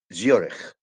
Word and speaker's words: Zurich: الفرنساوي والألماني بصفة خاصة، عشان كده السي اتش بتنطق بالألماني خ. زيورخ like German.